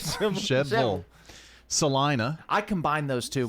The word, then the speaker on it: Shelbyville: That's exactly how they've got it pronounced on here. Shebville. Well, isn't that the way you say it? Shebville.